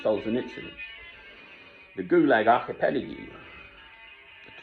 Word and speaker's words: Solzhenitsyn: There are 2 books by Solzhenitsyn, the proper way to pronounce his name, Solzhenitsyn.